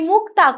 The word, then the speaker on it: মুকুতা: পেলাইবো গজ মুকুতার হার মুকুতা এই শব্দটি এসেছে কোথা থেকে না সংস্কৃত মুক্তা থেকে এই মুক্তা কয়তয় এটিও বিশ্লিষ্ট হয়ে গিয়ে সেখানে কার এসে গেল আমরা উচ্চারণ করছি কি রূপে না গজ মুকুতার হার মুকুতা এটিও স্রভক্তির অন্যতম বৈশিষ্ট্য এরপর